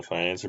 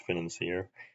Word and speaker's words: Financier: a challenge like this more so than the financer because there's not really much that you actually break in the financer, even if you're doing it normally.